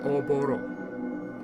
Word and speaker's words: Oboro: He defeated Oboro. I am saying it right. Oboro.